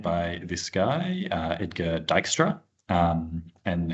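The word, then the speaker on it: Dijkstra: Um it was made by this guy uh Edgar Dystra um and he was a Dutch guy so it is pronounced Dystra um if you want to get that right.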